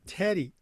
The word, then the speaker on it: Teti: Joseph Teddy, welcome to the Educational AD Pro podcast.